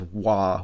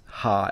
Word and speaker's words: は: a special case where when you see this as a particle and not a word, it is pronounced as wa with a W and not as ha as a H.